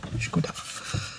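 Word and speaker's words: Škoda: Pronounce it properly. Skoda.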